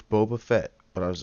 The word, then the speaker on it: Boba Fett: And I was like, am I saying it right? Is it Baba? It's Boba Fett.